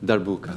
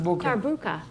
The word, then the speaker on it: darbuka: clarinet, and Roger, I don't know how to pronounce your instrument either. Kashou. Yes, but his instrument, the Darbuka. Darbuka.